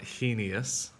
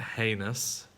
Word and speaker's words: heinous: is a height we also have heinous not heinous but heinous then we have hierarchy not hierarchy but hierarchy